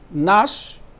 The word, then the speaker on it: gnash: So mind you, gnash, the G is not pronounced.